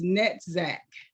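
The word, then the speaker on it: Netzach: saying pronouncing that right it's net Zack n-e-t-z-a-c-h and I'm probably still not pronouncing that correctly those two work together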